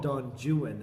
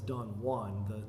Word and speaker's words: Don Juan: One of his poems has got, it's actually called Don Juan, is how it's pronounced. We know him as Don Juan, the name Juan, but he pronounces it Juan